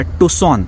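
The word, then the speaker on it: Tucson: तर मी आता आलोय अरिझोना मधल्या टसोन ्याच स्पेलिंग टक्सन असं होतं ज्याची हुंडाई ची गाडी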